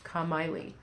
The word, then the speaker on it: Kamalie: part, and I'm like, no, it's not like Miley Cyrus, it's Kamalie.